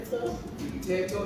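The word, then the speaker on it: Mthetho: My name is, once again, is Mteto. It's M-T-H-E-T-H-O. You are too fast. Let's go again. Mteto is M-T-H-E-T-H-O.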